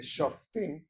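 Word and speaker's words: שופטים: Aunque más adelante vamos a mirar que el escritor de Shoftim, así se pronuncia el libro en hebreo, o de jueces, hace un breve retroceso, regresa a la vida, a cuando Josué está en vida, ¿ok?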